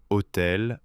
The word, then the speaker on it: hôtel: Il, mal, hôtel, animal. Le "L" final se prononce presque toujours.